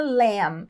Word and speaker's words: lamb: sempre forever to the LAMB ao Cordeiro Lembrando que L aqui essa letra final B é muda então a gente não fala l não e sim L é o animal né